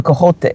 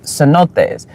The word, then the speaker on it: cenotes: The motherfucking, the cojote, or I think it's cenotes, almost butchered it, cenotes, which is the underground water systems that are in like caves and stuff.